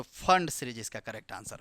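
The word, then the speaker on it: Pfund: जैसे यहां पे देखिए नाना लिखते इसको क्या है पी फंड है लेकिन पढ़ते क्या है पी इसमें साइलेंट होता है तो फंड सीरीज इसका करेक्ट आंसर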